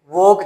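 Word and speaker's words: walk: से लगे होते हैं, वोक जैसे, वोक, ठीक है। और वोल्क नहीं बोलते इसको, क्यों, एल साइलेंट है तो वोक, पोट, ठीक है, पोट, वोक, पोट, वोक, पोट, पार्क, ठीक है।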